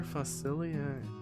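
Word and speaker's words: Facilier: Facilia. That's how it's pronounced.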